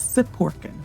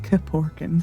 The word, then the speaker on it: Siporkin: His name is Siporkin, Mike Siporkin, which is weird because I went to school with somebody who had the same CIP beginning to their name, and they said it Kiporkin.